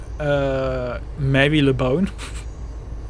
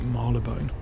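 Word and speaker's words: Marylebone: did the underground route, I kept calling it Mary LeBone. With, like, you know, no, I wasn't being funny. I genuinely thought that's how you pronounce it. It's not. It's like Marlebone or something like that.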